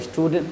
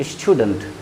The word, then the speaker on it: student: ध्यान से देखिए इसका उच्चारण, स्टूडेंट, डेंट नहीं पढ़ते, स्टूडेंट, स्टूडेंट।